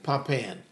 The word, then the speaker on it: Pompeian: So number 7, how do you pronounce that, Jason? Pompeian? Pompeian.